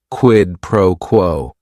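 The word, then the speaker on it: quid pro quo: It is three words. Each word is only one syllable. And if you're saying it together, the stress is kind of on that first word and that last word.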